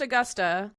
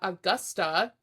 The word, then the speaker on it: Augusta: Oh, Augusta, Virginia. Okay. It's still pronounced Augusta.